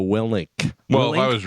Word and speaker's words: Willink: Willenick. How do you say it? Villainic? You're both wrong. What is it? It's Jocko Willink.